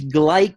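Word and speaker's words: Gleick: butterfly effect and so here it is James gleich I know that corrected pronunciation in his book Kaos explains the butterfly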